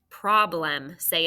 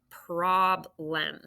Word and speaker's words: problem: good job prob limb now we usually say i have a problem do you when you say it like that problem i have a problem so i hear problems question mark um